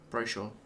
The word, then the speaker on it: brochure: Brochure. Or brochure. Brochure. It doesn't rhyme. But it does when I say it.